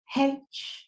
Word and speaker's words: Heche: So rest in peace to Anne Heche, like Haitian. That's how my producer tried to coach me on the pronunciation, but rest in peace to her.